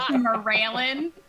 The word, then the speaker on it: Mireailin: I'm sorry, there's 18 vowels in that and it's pronounced Mireailin.